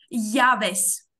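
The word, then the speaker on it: llaves: Дивись, ось це дві L ми читаємо як Й. Євес. Явес. Явес. Оце ми казали, у нас Б було, і це УВ. Воно читається як щось між Б і В.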